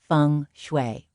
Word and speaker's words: feng shui: Better say it right, funue.